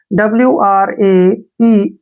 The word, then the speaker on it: wrap: जब कभी भी W के बाद R आता है तो वहां पर हमेशा W जो है साइलेंट होता है।